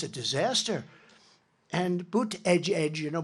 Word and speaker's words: Buttigieg: And Buttigieg, you know Buttigieg? You know, years ago I said, how do you pronounce that damn name? And they said, edge, the word edge. That's the way it's pronounced, Buttigieg.